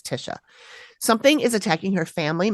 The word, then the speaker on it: Tysha: It is spelled Tysha though. Okay, like Tisha, but it's Tisha.